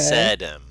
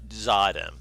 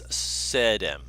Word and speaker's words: Sedem: Sedem, not Zadem. Not Zadim, does? it's Sedem.